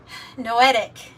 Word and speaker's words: noetic: Consciousness it's called a noetic yeah I when to pronounce it right no etic no o e t i c no consciousness and and